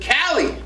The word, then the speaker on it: KALIII: biggest night show with Cali yes how you doing I'm doing great how are you I'm pretty good I just you gotta say my name though like Cali Cali yeah hey I'm sure